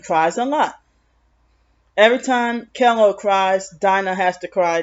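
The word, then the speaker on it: Kellough: has a son named kello spell k-e-l-l-o-u-g-h reminds i mean rhymes with hello and jell-o like hello and jell-o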